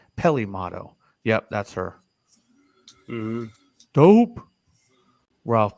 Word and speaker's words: Peli Motto: here Ralph's got us Pele motto and I think it's pronounced a little different Peli Peli motto yep that's her dope